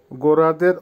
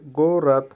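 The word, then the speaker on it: город: গৌরাদ, গোরাদের অর্থ হবে শহর, ইংলিশে টাউন বা সিটি, উচ্চারণ হবে গৌরাদ, আবারও বলছি গৌরাদ।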